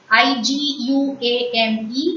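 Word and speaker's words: iguane: I-G-U-A-N-E is iguan.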